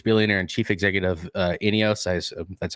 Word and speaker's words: INEOS: radcliffe the british billionaire and chief executive uh ineos that's how you pronounce it was expressed as um has expressed